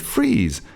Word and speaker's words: frieze: "Cheese is just a word that rhymes with frieze, the part of a triumphal arch under the cornice where the sculptures go."